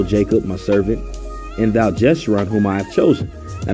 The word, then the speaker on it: Jeshurun: Fear not, O Jacob, my servant, and thou Jeshurun, whom I have chosen. Now the word Jeshurun means upright, and it's pronounced Yashawan in the ancient Hebrew.